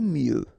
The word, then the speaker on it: mieux: convenir à prier prier aimer mieux final x not pronounced aimer mieux préférer préférer